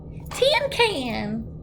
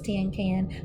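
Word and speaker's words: cinquain: to sound it out May jumped right up tentin can she shouted it's probably pronounced tentin can she grinned real delightful I know it's ten can because you told me that this morning remember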